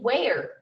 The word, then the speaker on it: where: have to write w-h-o like in where you only hear the er you don't hear the e-r-e so you've got to